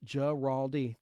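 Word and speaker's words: Guaraldi: Giraldi in Vince Giraldi is pronounced Giraldi.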